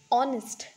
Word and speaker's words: honest: as her but here honest here this word is also started with oh that is H but it is pronounced as all here the H is silent it is not pronounced but that's why we